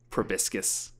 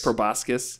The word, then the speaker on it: proboscis: is that is horrifying weird little probiscus or how do you pronounce that i feel like i pronounced that wrong buscus proboscis yes that was in an